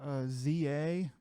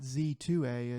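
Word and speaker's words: Z-A: Next up, Pokemon Legends ZA. It's not Z2A, it's ZA, I think is how it's pronounced.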